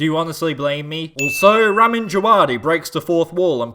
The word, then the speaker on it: Ramin Djawadi: Also, Ramin Djawadi breaks the 4th wall and plays a tune that sounds like a dive-bombing World War II Stuka.